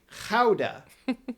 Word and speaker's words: Gouda: And we call that cheese Gouda, but in the Netherlands, the pronunciation is, now, wait for it, it's Gouda.